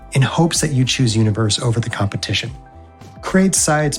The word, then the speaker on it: univer.se: Head to Universe. That's univer.se, but the dot is silent.